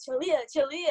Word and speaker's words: Chaleuh: how do i say this and i'm like julia julia and then i turn back and be like